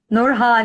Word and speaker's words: Nourhan: Is it Nourhan? Nourhan. Yeah, it's a Turkish name, but I make it easy for people.